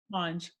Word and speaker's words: Monge: Monge.